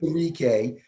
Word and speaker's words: Onwuzurike: Levi Onwuzurike. Levi, that's about right. Onwuzurike, Yeah.